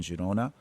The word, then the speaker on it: Girona: Today we had uh uh some wonderful shak shaki that we paired with Basque food here in Jirona. Um I'm using the Catalan uh pronunciation of that uh to be to be safe.